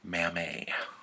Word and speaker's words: Mamet: is kind of embarrassing, but it's pronounced Mamet. And he's like, oh shit, really? It's Mamet. I'm like, yeah, it's David Mamet, he's French. And he's like, shit, I totally didn't know that.